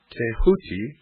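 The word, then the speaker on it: Tehuti: scribe of the Gods th pronounced tahuti the so-called Emerald Tablet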